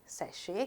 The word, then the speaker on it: sachet: sachet. මෙතනත් T තිබුණට අපි sachet කියලා කියන නිසා T එක silent.